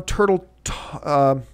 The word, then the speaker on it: Turteltaub: Number three, John Turteltaub, I believe is the way you pronounce his name, is the director of the film.